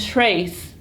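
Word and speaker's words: três: And trace is 3. Trace. Trace. It's kind of close to the French words. It sounds kind of like them.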